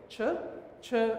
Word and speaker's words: CHUR: This is my firm called CHUR Associates. You realize that CHUR is actually my middle name. The correct way to pronounce that word is Winston Churchill. CHUR Associates.